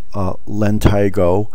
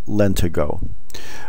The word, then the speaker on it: lentigo: Another name for freckle is Lentigo, sometimes pronounced Lentigo.